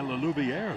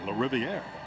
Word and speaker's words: LaRiviere: Pulled down by Lelouvier, who's the backup quarterback. Rather, let me pronounce that correctly, LaRiviere.